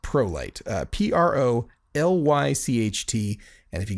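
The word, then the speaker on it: Prolycht: sounding spelling of a name uh but it's pronounced prolight uh p-r-o-l-y-c-h-t and if you go to hot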